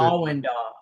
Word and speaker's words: Allendale: Is that how we pronounce it? Allendale.